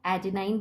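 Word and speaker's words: adenine: सो we said that nitrogenous bases में purine होता है, एडेनाइन बोलते हैं इसको, या कुछ लोग एडेनिन भी प्रोनाउंस करते हैं, एडेनाइन और ए से डेजिग्नेट करते हैं, ग्वानाइन और जी से डेजिग्नेट करते हैं।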